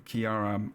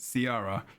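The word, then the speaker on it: Caithe: scarlet and also and Kiera Kiara um which is spelled weirdly with a c which is why Harold said Sierra because that's how he probably should be said but it's not okay so it's weird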